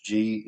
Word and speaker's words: Gnaphalium: Cudweed is Gnaphalium. That's actually spelled with a G. It's Gnaphalium. So it's got a silent G and a silent, well, PH, which usually is pronounced like an F. So Gnaphalium is astringent, diaphoretic, and diuretic.